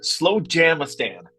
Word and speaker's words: Slowjamastan: Slowjamastan? Yes, you're close. It's Slowjamastan is the way that is pronounced.